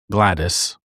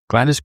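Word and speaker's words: Gwladys: Gwen adopted a 2-year-old girl named Glattis. Well, it is spelled G W L A D Y S. So, just a different way of spelling it, I guess. But if I got it wrong, sorry.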